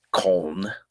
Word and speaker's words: Köln: The Germans pronounce it Köln, but it is the Cologne Cathedral, and there's inside.